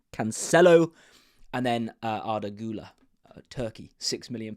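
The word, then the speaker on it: Cancelo: bench keeper Bruno Fernandez canello and or Canelo sorry someone did correct me on the pronunciation Canelo and then Ula turkey6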